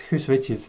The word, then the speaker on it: Guus Witjes: And my name is Guus Witjes, that's how you pronounce it.